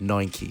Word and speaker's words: Nike: I know I've been saying Nike the whole time for this video, actually, but I do know in America it's pronounced Nike, so apologies for that, just realised.